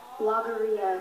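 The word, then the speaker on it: logorrhea: is to have fun and enjoy this experience logia logia am I say pronouncing the word correctly yes logia l o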